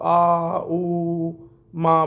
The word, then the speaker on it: ओम: ओम में कुछ अलग-अलग बहुत से लोग आ ऊ मा बोलते हैं वह मैं नहीं कहता गलत है या सही पर आपको पूर्ण ओम बोलना है एक साथ इस तरह से आपको ओम का उच्चारण कर लेना है तीन बार ओम का